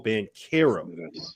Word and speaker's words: Banchero: Goodman, it's Paolo Banchero. Get it right. You pronounced it wrong for 18 months.